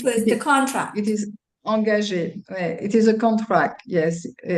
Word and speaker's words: engagé: we say engagé. Engagé. Engagé. Okay. In so that French, refers to contract. it is engagé.